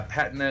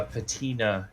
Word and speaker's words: patina: the more americanization yeah patna is british uh patina is american okay so we're both